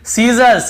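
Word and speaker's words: scissors: फिर देखिए सीजर्स, सीजर्स यानी कैंची को सीजर्स कहते हैं, यहाँ पर भी एस साइलेंट है।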